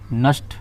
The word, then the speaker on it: Nernst: इसको बोलते हैं सिंपल नस्ट, शॉर्टकट में इसको नस्ट इक्वेशन ही बोलेंगे, लेकिन इसका प्रॉपर जो प्रोनाउंसिएशन है वो प्रोनाउंसिएशन है नर्नेस्ट। तो प्रॉपर प्रोनाउंसिएशन नर्नेस्ट है, लेकिन उसे नेस्ट इक्वेशन भी पढ़ते हैं।